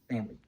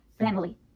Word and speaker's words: family: is momentum foreign most Americans pronounce this word without the I sound we say family family remember to listen to